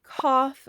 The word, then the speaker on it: cough: In the word cough, they make the off sound.